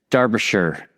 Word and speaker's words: Derbyshire: And I want to try to pronounce it right, okay? So we have Paul Northridge, and he is in Derbyshire.